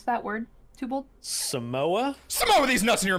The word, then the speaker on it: Samoa: the new lava map called uh s Samo Samoa with these nuts in your mouth Sam have you seen this new map no no do you know what it's called Sam OA all right we're going to play the new